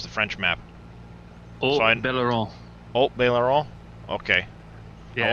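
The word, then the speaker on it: Haut-Beyleron: Well, while you're here, since you probably have practiced this like 8 million times, how do you pronounce the French map? Belaron.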